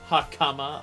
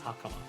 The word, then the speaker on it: hakama: Hakama, apparently, by the way. Both the final syllables get stressed, which doesn't actually exist in Japanese. It's pitch-based, so they really are the same stress, but high pitch, but eh.